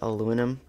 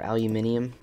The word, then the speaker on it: aluminium: next i'm developing is aluminum um or aluminium however you like to pronounce it it's up to you how you pronounce it to be honest sorry